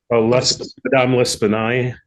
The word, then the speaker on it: L'Espanaye: clerk bringing the money to, how do you pronounce the lady's name? Madame L'Espanaye.